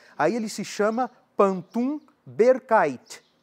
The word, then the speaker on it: berkait: Aí ele se chama pantum berkaite. B E R K A I T. Pantum berkaite. É esse tipo de pantum, o pantum berkaite, que vai originar a forma de pantum que